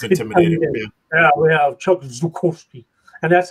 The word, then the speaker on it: Zukowski: So it's not Zukowski, it's Zukowski. And I like that, Zukowski, because it sounds, you know, sounds tougher. Zukowski. Intimidating. It sounds intimidating. Yeah, we have Chuck Zukowski.